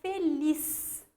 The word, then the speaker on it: feliz: A palavra feliz, olha só, lis, última sílaba tônica.